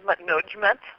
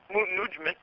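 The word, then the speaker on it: Mutnodjmet: Well, I pronounce it Mutnujmat, but the Egyptians didn't record vowels, so for all we know, her name could have been Mutnujmat.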